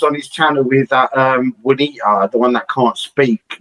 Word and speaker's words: Juanita: Oh, like someone was like he was on his channel with that Juanita, the one that can't speak, that has to hold up like Alex, it's pronounced Juanita.